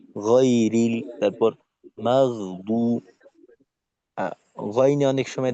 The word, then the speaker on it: غير: গ, ঠোঁট খোলা রেখে টান টান রেখে গয়রিল, তারপর মাগদু।